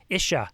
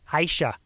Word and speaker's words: ISHA: presenting to iowa uh the isha conference no no sorry i said it wrong aisha they had corrected me aisha conference the iowa speech and